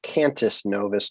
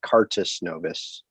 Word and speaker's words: Cantus Novus: maybe i just misunderstood it's cantus novus not cartis novus um and i just